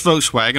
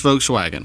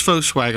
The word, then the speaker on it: Volkswagen: You're going to love your experience at Stokes Volkswagen. I guarantee it. Come see us today at Stokes Foswagon on Ashley Phosphate or StokesVub.comace at Stokes VDub.